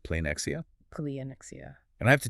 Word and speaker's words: πλεονεξία: It's pronounced pleonexia.